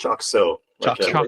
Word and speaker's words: Chocxo: salson and uh he's with um is it chocxo yes but it's pronounced choo choo got it okay Choo so I've been